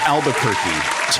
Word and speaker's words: Albuquerque: i don't know how to pronounce it it's pronounced albuquerque jason jason my man i tried to save